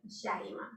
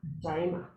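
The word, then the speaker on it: Yaima: Y-A-I, M as in Mary, But you pronounce it Jaima. like with the Like J? a J. Ah, Jaima. I'm put a little J here, sorry. In Spanish, the J sounds.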